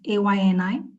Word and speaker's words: Ayni: So most partners spell out Ayni as AYNI. So today I would like to correct that and help you pronounce it as Ayni Fund.